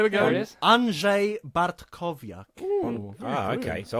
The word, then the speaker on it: Andrzej Bartkowiak: Andrzej Bartkowiak. Ooh, very good. Okay. So I've been has pronouncing that a- wrong for my entire What?